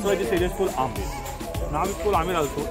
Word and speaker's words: आमेर: This area is called आमेर। नाम इसको आमेर also A एम पी आर B silent P यू टी C, which means आमेर एंड आमेर same B silent.